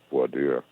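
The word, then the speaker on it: voir dire: done their job on void dire the jury selection process sometimes pronounced poi dear they will have screened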